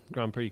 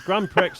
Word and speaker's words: Grand Prix: And explained it's actually pronounced Grand Prix because it's French.